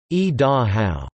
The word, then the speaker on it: Idaho: The Shoshone word is e-da-how, and the Indian thought thus conveyed when translated into English means, behold, the sun coming down the mountain.